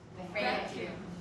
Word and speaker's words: vacuum: 윈니가 아랫니스를 깨물고, 너무 강하게 물지 마시고요. 아랫뉴스를 바깥으로 밀어내는 발음이거든요. 그래서 윗뉴스는 발음에 전혀 영향이 없어요. 그래서 va 이거 올려도 발음이 그대로 나와야 돼요. vacuum 이렇게요. 네, 맞습니다.